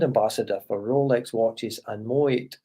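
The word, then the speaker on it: Moët: He's been and is a brand ambassador for Rolex watches and Moet. I think they pronounce it Moet in Chandon. I normally said Moet, but it's Moet and Chandon Champagne, both for 50 years.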